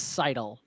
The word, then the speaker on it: Seidel: But it is Seidel.